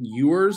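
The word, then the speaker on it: Ewers: down there yeah Quentin yours I think is how you pronounce his last name it's it's e-w-e-r-s so I do believe the E is pronounced as a u um so if I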